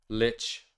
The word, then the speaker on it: lich: don't believe you lich yeah i know i was just pronouncing it wrong because i'm exhausted yeah but what's it